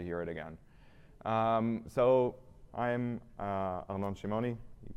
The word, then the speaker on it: Arnon Shimoni: So I'm Arnon Shimoni. You pronounced it correctly, which is respect.